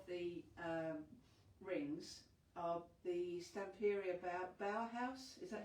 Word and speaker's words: Bauhaus: The ones on the front of the rings are the Stamperia Bauhaus. Is that how you pronounce it? Bauhaus.